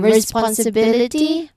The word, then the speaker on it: responsibility: For example um ability no or um responsibility look at that flexibility sincerity opportunity all of them follow the same rhythm. Third syllable from the end is stressed.